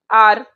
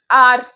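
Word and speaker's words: hour: हम इसे कैसे, हम एच को तो साइलेंट मानते हैं ना, एच को तो हम साइलेंट मानते हैं, तो इसीलिए इसके सामने एन आता है, एन आर, एन आर, ठीक है, एन आर।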